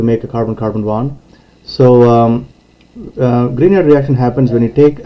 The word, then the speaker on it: Grignard: we will be doing the grignard reaction so it's spelled grignard but uh the actual pronunciation is grignard because